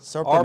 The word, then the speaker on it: Surprenant: Surprenant. Surprenant. R before the P.